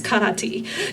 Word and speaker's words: karate: And if anybody ever gets like snobby and says, it's karate, tell them in Okinawan it's karate. It's actually pronounced T at the end.